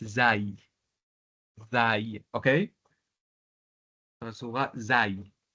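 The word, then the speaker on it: زاي: Alors, pour la lettre Zaï, j'ai entendu beaucoup de personnes qui ont prononcé Za. On la prononce Zaï.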